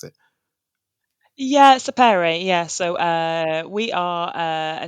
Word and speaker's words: Sapere: How do I pronounce it? Yeah, Sapere.